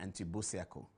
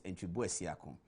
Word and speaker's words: Antwi Bosiako: Antwi Bosiako, as the British people say. They say Mr. Antwi Bosiako, but the real pronunciation is Antwi Bosiako, is in the studio tonight.